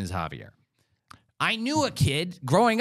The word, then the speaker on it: Xavier: name I don't know it's one of the two ways you pronounce the name x-a-v-i-e-r this is not some